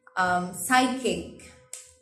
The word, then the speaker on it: psychic: Psychic, I did not pronounce the P.